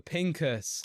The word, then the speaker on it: Pincus: with the lovely Papa Pinkus have I said your name right you said it right well done it's actually